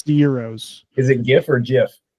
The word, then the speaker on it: gyros: among those present uh how do you pronounce the food g y o g y Euros Euros not Gyros not Gyros Euros yeah it's only it's only Gyros if you go to a Mexican restaurant and order the fitas okay but